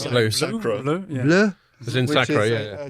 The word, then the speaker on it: Bleu: like there's one called Bleu. Is that how I pronounce that? Sounds like French bleu.